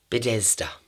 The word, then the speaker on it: Bethesda: in a place called Bethesda. No, I don't think it's called Bethesda. What is it called? Bethesda. Why can I not say it correctly? Bethesda. There we go.